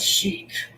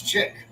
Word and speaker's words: Chick-fil-A: l A's ft chick is what I'm looking for Chic what is it CH I or c i k or c c k no it's not Chic it's chick but my friend used